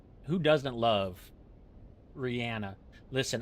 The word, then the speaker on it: Rihanna: Listen, I can't even say Rihanna because that's the way she pronounces it. And I just learned that like 2 weeks ago. I've always called her Rihanna for the beginning of time. And nobody corrected me because I think everybody else also thinks that's how you pronounce it. What you want from me? But she pronounces it Rihanna. So I have to respect it.